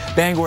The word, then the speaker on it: Bangor: towards Bangor as well Bangor hates when you say their name wrong they have a whole video online you should Google it but Bangor is how you say it that snow will